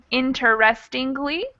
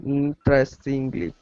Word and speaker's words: interestingly: it would be pronounced interestingly but most american english speakers would just pronounce it with four interestingly okay interestingly good question any other